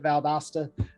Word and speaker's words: Valdosta: y'all and it's okay the automated systems call it valdosta and they they say all kinds of different uh ways but it's uh we typically pronounce it valdosta georgia we're uh about